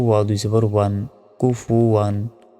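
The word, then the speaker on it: كُفُوًا: ওয়া দুই জবর ওয়ান, কুফু ওয়ান। আমরা অনেকে কি বললি এখানে বলি যে কুফু আন বলি, ভুল। ওয়াও দুই জবর ওয়ান হয়, তাহলে উচ্চারণ হবে কুফু ওয়ান, কুফু ওয়ান।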